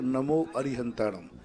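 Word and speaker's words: णमो अरिहंताणं: तो हमें णमोकार मंत्र के उच्चारण में णमो अरिहंताणम या णमो अरहंताणम, क्या उच्चारण करना ज्यादा ठीक है? सही प्राचीन पाठ है नमो अरिहंताणम।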